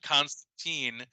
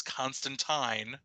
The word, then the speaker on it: Constantine: come to find out neil gaiman has corrected the world we've all been saying it wrong it is not constantine the character was always constantine um and so joanna